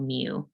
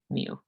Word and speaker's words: mu: little symbol here is called mu like meow but mu all right so what